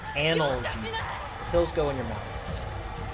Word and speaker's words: analgesic: That word is pronounced analgesic.